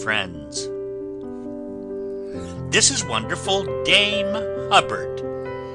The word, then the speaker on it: Hubbard: this is wonderful Dame Hubbard name that always rhymes with cupboard ever going out to